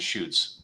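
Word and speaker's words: Chouffe: the and the cor the correct pronunciation of this is to shoots I know that um that that word causes uh for for me it used to cause but it's called the shutes and um they're based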